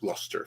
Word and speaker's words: Gloucester: stuff like same thing that's like it's written Gloucester it was pronounced Gloucester for some weird reason yeah I never could